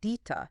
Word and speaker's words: DITA: It's pronounced DITA.